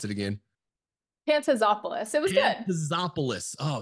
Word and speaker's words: Pantazopoulos: Mr Gabriel Flores today I'm here with pantalis oh man I fumbled that last name Pantop hey please help me pronounce it again pantazopoulos it was good pantazopoulos oh so close folks